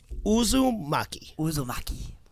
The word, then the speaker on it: Uzumaki: Uzumaki.